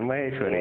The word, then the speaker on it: Maheshwari: Mahari? Correct, Maheshwari.